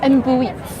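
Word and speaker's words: embotits: you get here, and it's pronounced embuits, in Catalan at least.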